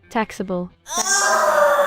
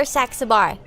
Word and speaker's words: Saxabar: Taxable.